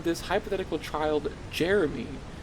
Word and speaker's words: Jere-Me: For whatever reason, she wants to name this hypothetical child Jere-Me. It's pronounced exactly like Jeremy, but it just isn't right for those listeners at home.